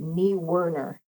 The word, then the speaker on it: Niewiner: He has told, so based on the spelling of his name, I would have thought that too. And good job there, Sean, checking out your German words, and could be Dutch, but he actually pronounces it Niewiner. Niewiner, okay. Yeah, and there's no R in there, and I've told him